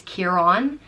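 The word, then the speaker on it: Ciarán: So if it's C-I-A-R-A fada N, it's Kieran.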